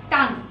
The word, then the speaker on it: tongue: টাঙ্গু না কিন্তু, টাং, টাং বানানটা একটু অন্যরকম, টাং, TONGUE, মনে থাকে জানো, হ্যাঁ? টাঙ্গু না কিন্তু। ওকে, গেল। টান টাং মনে থাকবে বানান, টাঙ্গু উচ্চারণ করলে কিন্তু খবর আছে।